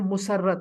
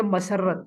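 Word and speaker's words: مسرت: पढ़ रहे होते हैं, वो इसकी प्रोनाउंसिएशन कर रहे होते हैं मुसर्रत। मुसर्रत नहीं है, ये किसी लड़की का नाम नहीं है, इससे आप पढ़ेंगे मसरत। मसरत कहते हैं खुशी को, यानी आपके चेहरे पर यह मसरत किस वजह से है, ठीक है। तो मसरत पढ़ेंगे, दुरुस्त इसका तलफ़ुज़ या दुरुस्त प्रोनाउंसिएशन इसकी होगी मसरत, मीम के ऊपर जबर आप पढ़ेंगे। तो मसरत का मतलब होता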